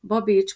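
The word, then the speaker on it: Babits: Babics, Móric, Kossut, Madács. Ha megfigyeled, ezeknél a családneveknél megőriztük a régi betűkapcsolatokat, ahol kettő betű jelöl egy hangot. Babics, TS, ugye az a Cshang.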